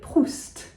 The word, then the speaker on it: Proust: Marcel Proust. We say the T, we say the S.